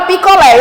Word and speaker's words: picolé: Na palavra picolé, eu tenho 3 sílabas, certo? Eu tenho 3 sílabas. Foi o que aconteceu ali, de lá para cá. Picolé. O lé é a sílaba mais forte. Então, se é a última